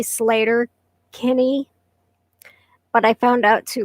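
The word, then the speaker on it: Sleater-Kinney: was sleeter kenny and i say sleeter kenny it's really slater kenny but i found out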